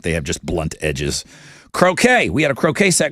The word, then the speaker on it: croquet: and like that replaced croquet. If your last name was a Kennedy, you played croquet. Oh, the candy sp so much croquet. The word itself is French. Croquet. Um, that's how they say it.